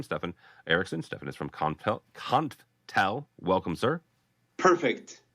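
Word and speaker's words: Konftel: Stefan is from Conftel. Welcome, sir. Perfect. Usually people call us Confitel, so you spell it just perfect. So there's no E there.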